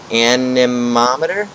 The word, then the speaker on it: anemometer: And then this is the anemometer? Anemometer. Okay, yep, that's how you pronounce that.